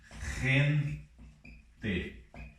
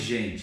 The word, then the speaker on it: gente: Por exemplo, gente. Não é mais gente, agora é gente.